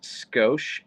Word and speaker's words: skosh: No, I mispronounced it. It's Skosh, Skosh.